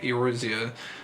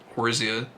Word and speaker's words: Eorzea: I feel like I'm saying the O too hard. It's probably just like Eorzea. It's probably like 2 syllables or something. It's probably just Orza. Orzea. The E is probably silent. It's probably not Eorzea. It's probably just Orzea. I might just start saying it like that because